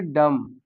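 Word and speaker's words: dumb: डम। अब यह जो बी दिया है यह साइलेंट रहेगा।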